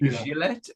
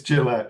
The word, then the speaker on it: Gillette: read interviews with you is it jillette or is it Gillette it's Gillette it's actually okay so I'm